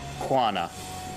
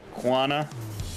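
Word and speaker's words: Koana: care I promise kuana I don't think the first a is pronounced it's pronounced but it's kind of like a ghost quana kind of more like that yeah it's not Moana but it's like quana but also the problem is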